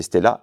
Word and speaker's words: Stella: grec cette chanteuse donc il faut prononcer Stella et donc musicienne grec